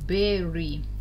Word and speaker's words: bury: Обращаем внимание на слово bury, как оно пишется. Читается абсолютно по-другому. Damage, harm, повреждать что-то.